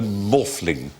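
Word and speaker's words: Maughfling: of Glastonbury and Stonehenge whose name is rol morle R morling it's spelled m a u g h f l i n g sounds like a practice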